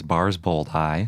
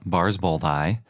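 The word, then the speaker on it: barsboldi: with chair Adan and the species name is bars bold hi so it's chair Adan bars both I and chair Adan is called this because it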